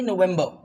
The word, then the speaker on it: November: ठीक है, okay, the sound will be November। आर को पढ़ना ही नहीं है, so the sound will be November and the last one will be what?